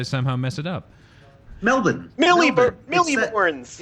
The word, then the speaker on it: Melbourne: Milliborns. It's not so hard. Melbourne.